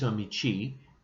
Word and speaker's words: amici: example is amicus amici the sound of the seas changes a bit in ecclesiastical latin pronunciation because they have soft seas but their soft seas aren't like ours they're ch like the italians so amiku michi masculine